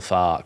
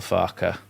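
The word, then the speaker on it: Farke: Daniel Far, but it's Daniel Farer.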